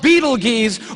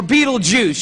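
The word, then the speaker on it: Betelgeuse: It's called Beetlegees or Beetlejuice. You can pick your pronunciation. I'm obviously going with Beetlejuice.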